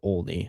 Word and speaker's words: Olney: Yes, it is Buster Olney.